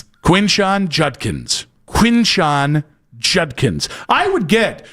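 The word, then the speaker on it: Quinshon Judkins: The Brad Pitt thing's clearly a bit the Deande thing that's he just butchered a name which we've all done. The Dylan worsh Judkins. Quinn Sean Judkins.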